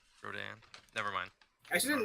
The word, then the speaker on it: Rodin: name comes from, but it's spelled Rodin, but it's Right. spelled like, it's French, so it's Rodin, but nobody says, like, nobody wants to pronounce it like a French person, so they just say Rodin.